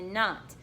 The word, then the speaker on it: knot: KN says as a knot now remember with this word the K is silent we do not say the K sound we're not going to